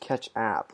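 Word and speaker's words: Ketchapp: I think it's pronounced catch app, like catch Ketchup, app, kind of like yeah, a yeah.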